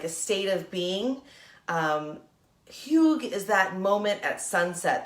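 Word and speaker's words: hygge: e but it's pronounced huge like a weird way to say hug right Hugh is what it's called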